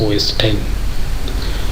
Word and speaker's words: OS X: versions are known as OS X pronounced as OS 10 and the specific versions